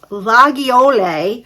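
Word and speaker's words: Laguiole: will get to say this is pronounced lle which refers to a type of traditional French pocket knife that was initially made in the village of lagle um these Knives have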